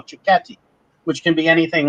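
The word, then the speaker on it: cicchetti: are enjoying the uh chris how do we pronounce that so this it's chicati it doesn't really have much to do with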